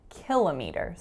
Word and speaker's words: kilometre: the word kilometer kilometer so that's how I started saying it when I moved to the States so you're gonna hear its schwa winter schwa Kalama dart kilometer in Canada I grew up saying kilometres so you can hear the stress is totally different so in the Canadian